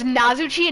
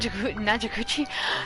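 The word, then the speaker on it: Nazuchi: beach sooner or later it's nasuchi not not nanchikuchi if you can't tell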